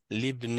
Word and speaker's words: لابن: Donc, on ne prononce pas le alif. Donc, ça va être l'ibn al-mudiri.